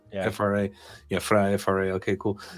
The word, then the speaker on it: FRA: FRA.